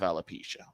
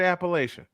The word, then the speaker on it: alopecia: Yes, someone has actually mispronounced it and called it Appalachia. Someone called it Appalachia.